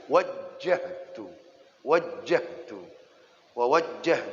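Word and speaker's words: وَجَّهْتُ: ilaika wa wajah tuh jangan dibaca wajah tuh ah jadi bacanya Gan waktu sholat Allahu akbar kabiro walhamdulillahi katsiro wa Subhanallah ibukota wasilah wajah-wajah Iya tasdid gym nya wajjahtu wajah Tum Ho Hai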